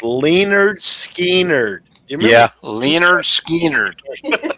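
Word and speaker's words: Lynyrd Skynyrd: I had a roommate years ago who was a big Leonard Skinner fan, and he had an album that was said it's pronounced Leonard Skinner.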